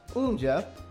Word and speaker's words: UMJA: Well, UMJA, pronounced Umoja, is the native protocol token of Umoja.